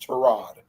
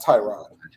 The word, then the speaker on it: Tyrod: gonna be starting yeah it's actually supposed to be pronounced trod not Tyrod trod trod yes he